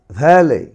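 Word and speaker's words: valet: এরকম যদি দেখো ইর পরে টি থাকে, সেটির উচ্চারণ কিন্তু হয় না। তাহলে এটির উচ্চারণ কীভাবে হয়? ব্যালে, ব্যালে, ব্যালে, ভ্যালে, ভ্যালে, ভ্যালে।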